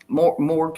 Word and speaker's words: Marg: See, uh, is that how you said pronounce it? Morg? Morg. See, Yep. short for Morgan.